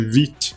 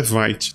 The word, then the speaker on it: Vite: e é isso mesmo a pronúncia é Vit que vem da palavra francesa quer dizer rápido não é White tá é Vit e aqui a gente